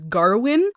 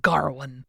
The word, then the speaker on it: Gawain: But yeah, the king was like Garwin, but other people said Gawain or Gawain. So I think it's just a matter of like where they are and who's pronouncing it.